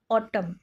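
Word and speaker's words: autumn: भी इनक्लूड हो जाउची right which letter is silent in ऑटम एटा को हमें ऑटम मान तो कहूने ऑटम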